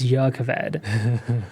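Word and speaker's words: Jah Keved: And then and and then you told me that pretty much all nouns that start with a J are Y. So I was like oh so I guess it's Yakaved which whatever.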